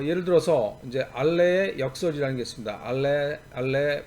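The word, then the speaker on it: Allais: 어 예를 들어서 이제 알레 역설 이라는 겠읍니다 아래 빨래 패러독스 란 게 있는데 그게 부로 불어로 하면 자 이제 s 가 발음이 안 되죠 그렇죠 그러니까 발이 만들었던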